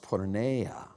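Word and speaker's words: πορνεία: It's in the Greek language, the word is pronounced porneia.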